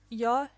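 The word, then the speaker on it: ё: e is a semi-vowel yo is always stressed the dots are omitted in most written and printed texts which means that yo looks exactly like yeah but the distinction must be made in speech the dots are indicated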